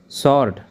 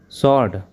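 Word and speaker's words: sword: तलवार सॉर्ड। सॉर्ड। के silent वर्ड्स।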